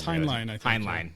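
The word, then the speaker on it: Heinlein: kind of the dean I'm probably pronouncing his last name wrong it's hline hline hline um the dean of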